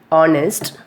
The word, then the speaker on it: honest: So the second rule, sometimes H is not pronounced at the beginning of many words. For example, honest, or honor, air. Spelling of the honest is Honest. Here we are not pronouncing the H, simply we are saying honest.